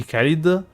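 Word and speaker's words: Caelid: Also, the pronunciation Chelid or Kelid, I'm pretty sure, yeah, it's actually supposed to be Kelid. Because NPCs say Kelid.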